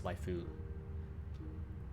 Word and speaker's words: waifu: stopping consonant they always have like a vowel after it so it's not wife it's waifu life although in colloquial japanese you can drop the you can drop the vowel if it's the second syllable in a lot of words it's a whole separate